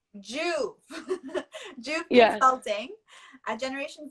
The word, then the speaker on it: JUV: Juve. Juve.